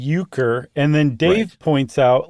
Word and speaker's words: Euchre: that we play today it's spelled you or sorry e-u-c-h-r-e ukr and then Dave points